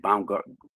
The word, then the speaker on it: Baumgartner: Baumgartner. Let me get this man's name right. You did what I'm saying. Some of y'all might have heard about him. You did what I'm saying. But Baumgartner.